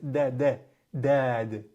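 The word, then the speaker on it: ضاد: You want to use your whole tongue. Your whole tongue is going to be compressed between your top and bottom molar teeth.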